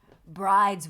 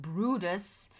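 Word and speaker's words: Bryde: photo oh brodush okay the bride's pronounced brutus whale is named for johan bride who built the first whaling stations in south africa i just want to talk about how this word and this pronunciation are nothing alike yeah yeah because of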